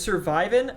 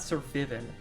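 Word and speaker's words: Sir Vyvin: Sir Vivin is surviving? Okay, you're so right. Thank you. You've changed my life. His name's actually pronounced Survivin, not Sir Vivin. Good call. It's a pun.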